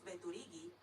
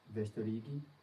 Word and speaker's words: veturigi: Mi povus veturigi se la loko estas sufiĉe proxima. All right, repeat the word for to drive. Vestorigi.